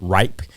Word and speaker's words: RYP: So in that, my brand is Raise Your Perspective, RYP, and I call it, and I pronounce it RIPE.